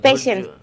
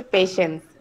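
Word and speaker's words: patience: পেশেন্স ভাইয়া, লিখতে লাগে লাগে পাটিয়েন্স, কিন্তু প্রনাউন্সিয়েশন হচ্ছে পেশেন্স, ওই যে ধৈর্য।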